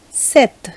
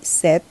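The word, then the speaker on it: cet: much confusing so it is so ce so set c e t set and then again c e double t e again pronounced as set and then we have say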